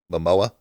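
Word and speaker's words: Momoa: cameo where Ezra Miller and uh uh Jason Mamoa yes do I say his name right uh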